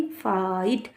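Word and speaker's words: fight: आई जी एस टी फाइट इसमें ये ध्यान रखना है जी एस साइलेंट है आपका जी एन बीच की ध्वनि नहीं निकलेगी। आपको ये एफ आई फाइ और यहां पर सीधा ट पढ़ना है।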